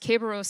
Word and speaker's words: Kerberos: guards the underworld in roman mythology and it's pronounced caberos here or and spelled with the k just